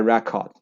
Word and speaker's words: record: And this is the first syllable stress. So they would say record. Example, my friend broke a record in a marathon.